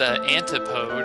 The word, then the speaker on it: Antipode: It's pronounced antipode, and it means the direct opposite of something else.